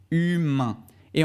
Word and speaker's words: humaine: féminin c'est humaine humaine encore une fois à ici pour la forme masculine on dit humain donc on s'arrête avec le son à irène leçon nasal qui donne un un humain et enfin pour la forme féminine on dit humaine humaine c'est le e à la fin qui fait changer la